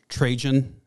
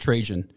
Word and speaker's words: Trajan: This is when the Roman emperor, it's pronounced Trajan. Was he trying to make it sound like transgen or I've always heard it pronounced Trajan.